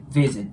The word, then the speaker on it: visit: 「visit the grave」の場合、まず「visit」の「v」の音は、上の歯を下唇に軽く触れさせることで発音するので、「visit」となります。